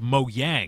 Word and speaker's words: Mojang: It's pronounced Mojang.